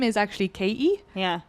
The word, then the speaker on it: Katie: Or Haiti because my name is actually Katie. Yeah. I don't pronounce the T.